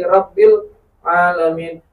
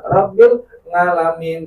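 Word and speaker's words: رب العالمين: Bismillahirrahmanirrahim, Alhamdulillahi rabbil alamin, bukan rabbil ngalamin gitu.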